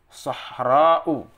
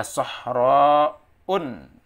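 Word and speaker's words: صحراء: Sahra'u. Tidak boleh dibaca sahra'un, ya, atau sahra'an atau sahra'in karena dia termasuk isim mamdud yang mu'annas.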